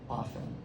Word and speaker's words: often: And the last thing is when people pronounce the letter T in the word often. Often.